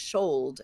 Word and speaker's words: should: think I agree also these words should and would they used to rhyme with gold and told so it was schold and Wold whoa whoa who okay